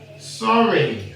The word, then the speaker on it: sorry: But when you have two syllables and more, it likes to make a long E sound. So what's this word here? Runny. Runny. When something's runny. How about this? Sorry.